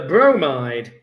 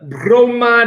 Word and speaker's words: bromide: The bromide ion. Whenever you say bromide or bromin, you've got to say it like an Italian accent with a roll, that bromin.